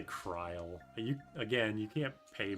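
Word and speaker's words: Krile: I used to pronounce krill like krill. Oh yeah, they say kryle.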